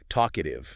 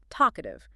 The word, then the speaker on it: talkative: Listen to how the emphasis pushes forward right from the start, talkative. You punch that first syllable and let the rest of the word fall naturally. It has a forward momentum.